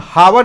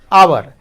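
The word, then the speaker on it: hour: हावर एच का मतलब ह होता है ना, तो इसको तो हम हावर नहीं बोलते हैं, ह नहीं बोलते हैं, क्या बोलते हैं? आवर। आवर यानी आ यानी स्वर, ठीक है।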